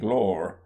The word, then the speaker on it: Gloire: At least he spelt it Gloire, but pronounced it Glore.